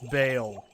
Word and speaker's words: Baal: just wants to be difficult and call him ball because you think ball's Do you really want to call him Ball? Do we really want to rest on this laurel? It's Bale.